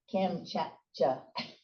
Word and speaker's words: Kamchatka: in the Chigniks, and after, and I never pronounce it correctly, Kamchatka. How do you say that? Kamchatka.